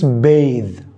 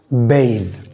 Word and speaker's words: bathe: you say this word again bath no it's bathe bathe it is the act